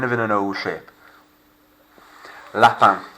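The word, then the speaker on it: lapin: in an old shape lapan rabbit a rabbit leaps yeah lap band sounds like leaping or of course if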